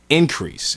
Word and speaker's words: Inkreese: We formed a band that my mother named Increase in Syracuse, New York, and it's not spelled like you would spell increase. It's actually spelled INKREESE.